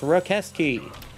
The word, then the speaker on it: Rokeski: Chevy going up against rookeski that's how you say his name you guys you guys say it wrong rokeski going up against